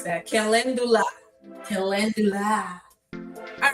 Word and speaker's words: calendula: Yes, calendula. Thank you, T Good. Thank you. Oh my gosh, that is too funny. I can't believe I didn't know how to pronounce that. Calendula.